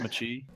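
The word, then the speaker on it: mâché: It's actually it's pronounced machi.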